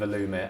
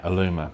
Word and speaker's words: Allumer: Like, we've spoken quite a lot before about how Aluma came about and kind of the birth of Aluma and Am I pronouncing it right? Definitely. Okay. Aluma.